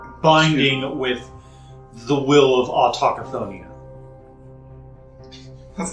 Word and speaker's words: Autochthonia: Autochthonia is what I should have said. Yeah, that's why I took a moment. I was like, wait a second. Autothon.